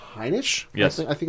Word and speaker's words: Heinisch: Heinisch? Yes. I think it's his name. Heinisch.